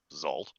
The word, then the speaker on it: Xalt: and especially halflings, Uzalt, more often called simply Zalt, pronounced, Zalt, as if it's XALT, short form, but pronounced as if it was ZALT, is a solitary hunter who